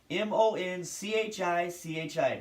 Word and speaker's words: Monchichi: I'm like, it's not difficult to pronounce. M-O-N-C-H-I-C-H-I.